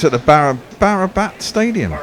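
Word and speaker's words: Barabati: It's at the Barabat Stadium. Right, okay. And Barbati. Yes. That was a nice bit of pronunciation there, Bear.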